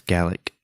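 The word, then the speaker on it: Galick: It's more like a Gatling gun. It's Gallic.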